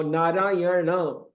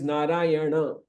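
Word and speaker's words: Nārāyaṇa: else so Kish now naray it's not naray N means n but but actually it is narayana so because we are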